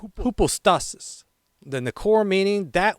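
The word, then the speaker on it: ὑπόστασις: This Greek word is pronounced hypostasis.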